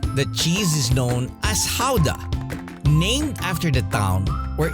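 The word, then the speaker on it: Gouda: the world here the cheese is known as Howa named after the town where it has been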